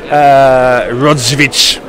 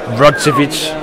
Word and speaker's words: Rodziewicz: Rodziewicz. And I'm pretty good with Polish names, but yeah, Andrzej, I've got no idea. Andrzej. Rodziewicz.